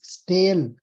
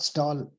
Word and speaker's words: stale: check and post-dated listen you are pronouncing it wrongly stale not stall still tailed options s